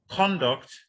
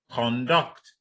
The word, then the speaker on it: conduct: So if you have words like conduct, in a word like conduct, now conduct is what? A noun. Now the stress is on what? On the first syllable. Then when you have the other one, conduct, the stress is on the second syllable.